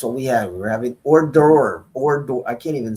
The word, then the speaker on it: hors d'oeuvres: We're having hors d'oeuvres hors d'oeuvres I can't even say it, Pete.